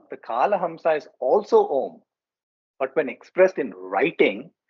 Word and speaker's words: Om: used to mean alphabet while om is said to be monosyllabic when pronounced uh it is formed of three sounds the a u and the M hence it is the